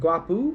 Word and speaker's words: guapo: So O is always u. Yes. So gutum. Is that it? Yes. Gutum. Yes. And guapu.